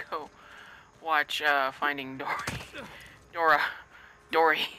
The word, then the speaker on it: Dory: I got it right the first time this time. I've been saying it wrong since it came out. And I don't know what my malfunction is, but I just can't say it right. Like, I just keep saying Dora first, and I'm like, that's not right.